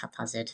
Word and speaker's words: Haphazard: And also, I used to think it was Haphazard. I think that's how you pronounce it with the P and H, but yeah, I guess you can say either way, but normally it's Haphazard.